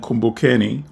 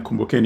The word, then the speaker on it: Kumbukeni: slash and then the APT sign and then kumbokeni one and once again kumbaken is spelled k-u-m -b-u-k-e-n-i and then the number one